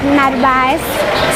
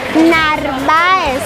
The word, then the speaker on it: Narváez: Ahora vamos hacia el Paseo Narváez. Sí, ¿cómo que se pronuncia? Es que no sé. Narváez.